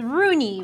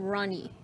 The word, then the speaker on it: Rooney: So it's Rooney, right? Not Ronnie.